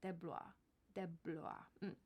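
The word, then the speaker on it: DeBlois: film's director Dean deis de deis that's how he pronounces it deis de this is in speaking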